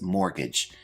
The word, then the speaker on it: mortgage: Our first term is mortgage. Now this word has a silent T which I've highlighted in the word. Let's check our pronunciation. Mortgage.